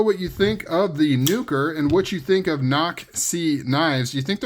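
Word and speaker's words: Nukr: nuker so the hawky nuker n u k r um I believe you pronounce it as nuker I don't know how else knucker I don't know how else you'd pronounce it it is a little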